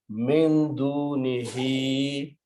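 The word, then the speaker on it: مِن دُونِهِ: First thing that will happen is that because this dunihi has to be stretched a little bit, but there is a hamza and this hamza will force to stretch it longer. So you'll have to pronounce min dunihi, and then this word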